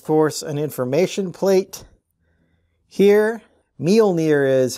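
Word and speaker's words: Mjölnir: there is of course an information plate here meal near is how i looked up the pronunciation of this norse word here and as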